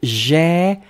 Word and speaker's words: j'ai: E, well, yeah, in j'ai and prenne? No, it's the same open, really the same open sound, Yossi. So it's E. Really, you go quite high, you open quite wide the mouth.